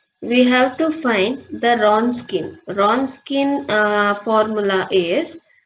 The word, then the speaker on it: Wronskian: Now we have to find the Wronskian. Wronskian formula is W means Wronskian, WROSKIN. Here W will become silent, so we just spell it as a Wronskian method.